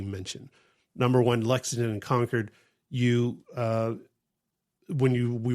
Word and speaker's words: Concord: And we ended up staying a night over in conquered. Yeah. It it looks like Concord, but that is not how you say it. Do not say Concord.